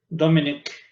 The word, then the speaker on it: Domenech: Luego espacio, punto y coma, y luego ya viene la parte de traducción de Matilde Horn y Luis Domenech, ¿sí? O Domenech, ¿no? ¿Cómo se pronuncia? Dominic.